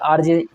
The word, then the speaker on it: RJ: RJ का pronunciation क्या है? RJ। इसमें हमने देखा पहला जो प्रोनाउंसिएशन में पहले अक्षर का प्रोनाउंसिएशन आ से शुरू हो रहा है, जो क्या है? स्वर है।